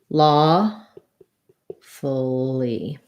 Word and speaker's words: lawfully: on the u sound so lawful will have a schwa there and an e sound so it sounds like law fully but long and then short so reduce files